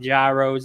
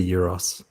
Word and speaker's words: gyros: people call them like gyros and stuff like that. Right. Okay. It's I call them gyros. right. It's actually, look, I don't want to be the police here, but it is a euros.